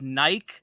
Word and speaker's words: Nike: is it art by Nike is it art by Nick what helps me all right so it's pronounced Nike so it's like you're saying um bike but with an N god um you can